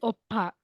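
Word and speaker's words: 오빠: then the second one Oba uh it is Opa so um when you write B a twice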